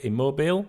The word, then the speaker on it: Immobile: the same publication also says that Italy Striker immobile is how he pronounced his name 33 is expected to stay